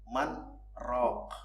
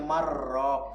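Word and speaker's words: مَنْ رَاقٍ: Man roh. Harus dibaca man roh. Karena nun mati ketemu roh, kalau dalam tajwidnya harus idgham bila guna. Jadi bacanya marrok kalau nggak ada saktahnya.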